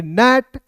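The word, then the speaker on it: gnat: आपको बताया जी एन ए टी को पढ़ेंगे नेट जी एन ए डब्ल्यू को पढ़ेंगे नौ एस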